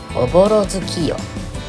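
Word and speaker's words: 朧月夜: 正解はおぼろ月夜。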